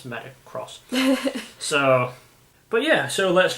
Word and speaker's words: MetaX: Metacross is the official way of pronouncing it. A lot of not MetaX, which I've heard is what people are saying.